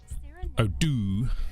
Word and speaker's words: Odoo: Maybe we should start pronouncing Odoo the right way. We don't put enough d in. Odoo.